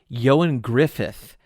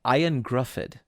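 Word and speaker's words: Ioan Gruffudd: of course it is remember that johan griffith is how you say that guy's name from fantastic four uh i'm pretty sure it's yes yes i'm pretty sure it's ionia griffith yes i when i first saw his name i thought it was i thought it was like ayan griffith i thought that was that was like his name or like i own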